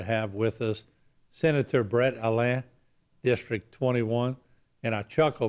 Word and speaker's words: Allain: Yeah, everybody just, I heard it pronounced so many different ways until I just learned how to say Allain. Yeah. You know, That's the French pronunciation. So there you go.